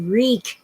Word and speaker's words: wreak: and by the way you wreak havoc you don't wreck it it is wrecked I dropped something uh it's w-r-e-a-k reap it's an obsolete word but when the phrase wreak havoc was first used it was a long time ago it it's an obsolete word for work w-o-r-k you work Havoc you wreak it oh they want to